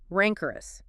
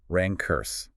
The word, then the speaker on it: rancorous: First, rancorous. R-A-N-C-O-R-O-U-S. U.S. pronunciation, Or rancurse.